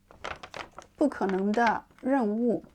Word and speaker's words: 不可能的任务: the first one, the tone is fourth, which is the phoneme tone, so it's 不. If you want to say the second one, the tone is the third, so it's 可. Together, the name is said like this.